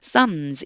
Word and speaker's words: Psalms: 피가 소리가 안 나요. 묵음이에요. 아무 소리가 안 나요. 그래서 Psalms 이렇게 읽어주시면 돼요.